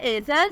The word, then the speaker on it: Ayzal: नाम है एज़ल, स्पेलिंग है AYZAL, मीनिंग है अल्लाह पाक का तोहफ़ा।